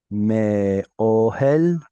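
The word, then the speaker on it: מאהל: Elav me'ohel, with the stress right there because that's your cancellation mark.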